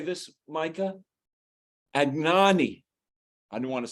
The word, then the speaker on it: Anagni: Agnani.